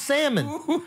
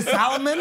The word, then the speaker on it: salmon: is in the restaurant you can't even pronounce salmon you pronounce an L I can't I can't take you to Solomon I can't I can't